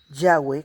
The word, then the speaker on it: Yahweh: fidei del año 1270 los escolásticos hebreos Generalmente favorecen yahwe como la más adecuada pronunciación si tenemos en cuenta